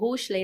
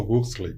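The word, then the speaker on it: Huxley: O livro, quem quiser leia esse livro, Admirável Mundo Novo do Hushley, né? Aldo Rus. Hley. Aldo Rusley. Isso. Obrigada pela pronúncia.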